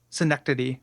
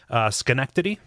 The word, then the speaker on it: Schenectady: But Gary, I need to talk to you about the way you pronounce that word. Oh, what are you saying? Synecdoche, like the literary device. Schenectady. Well, which one's the city then? Schenectady.